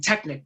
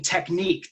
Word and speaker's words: technique: to one word when they kept on emphasizing Technic Technic Technic I didn't know if it was a Romanian word for a joint or a muscle they were articulating the first syllable same technique technique is most important